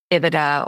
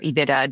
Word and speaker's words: EBITDA: The second number would be EBITDA or EBITDA, depending on how you pronounce it, which is earnings